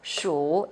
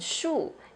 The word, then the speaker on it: 数: 数 is a verb here. It's a third tone, down and up. 数 is to count, it's a verb. And 数 is a noun, means number.